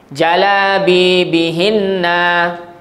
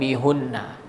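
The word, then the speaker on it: جَلَابِيبِهِنَّ: Kenapa baca hinna tak baca hunna? Sebelum huruf ha tu baca baris apa tu? Sebelum ha, b tu baris bawah kan? Jalabibihinna kan? Okey, maka sebab itulah baca bihinna bukan bihunna. Okey, sebab sebelum huruf ha baris Wah.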